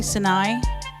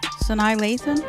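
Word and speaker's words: Sanaa Lathan: so I wasn't a how do you say I always say Sinai Sanai Lathan that's her name okay but I wasn't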